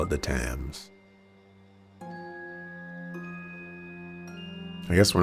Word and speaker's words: Thames: They seemed to be headed towards the Thames.